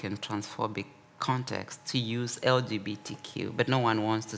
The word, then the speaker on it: LGBTQ: Now we are replaced with LGBTQ often pronounced as a single word LGBTQ.